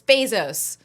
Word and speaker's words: Bezos: yes you come after me about about my pronunciation are you kidding he's the rich man it's Bezos Bezos there's not remember he's the one who